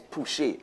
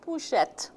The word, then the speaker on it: Pouchet: Pouchet, Pouchet, we'll answer here, but it's really Pouchet. It's Pouchet.